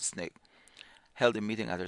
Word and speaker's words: SNCC: the student non-violent Coordinating Committee SNCC pronounced snake held a meeting at